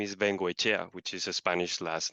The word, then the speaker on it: Vengoechea: So, but your last name is pronounced similarly. Vengoechea. Chea, and it's Koombea. Okay, so The E, yeah, the E sounds in the same way, like an E.